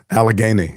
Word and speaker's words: Allegheny: We see it the same for Allegheny, did I say it right? Allegheny, yeah.